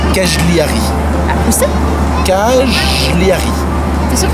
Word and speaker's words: Cagliari: cajelari tu es sûr qu'on dit cajelari ouais parce qu'on m'a dit en italien tous les G ah ok genre mascarpone tu vois il y a pas de G donc ça se prononce pas g 4000 on est où